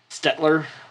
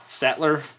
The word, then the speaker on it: Staedtler: that i don't remember stetler statler it's spelled not like it's spelled not like you would think oh boy you guys